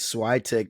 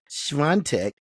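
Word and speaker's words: Świątek: I always pronounce it as Swiatek, but it's Swiatek.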